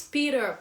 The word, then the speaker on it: Peter: so this Peter pen so you see that it has the T sound the pet you WR actually T Peter Peter actually Peter so how would British say this word Peter oh P okay but in in American uh uh English they say the r instead of the T So Peter Peter pen